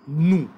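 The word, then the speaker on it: nous: Nu, nu. Nu. Nu. Yeah, Yes, do nu. not Nu is pronounce for we.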